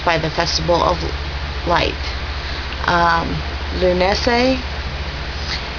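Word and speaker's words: Lughnasadh: Lunese, which is spelled totally different than it sounds, is August 1st.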